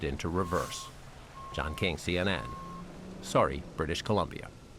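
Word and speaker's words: Surrey: Sorry, British Columbia. That is not Suri. Ask someone. Yeah, that is sorry. British Columbia.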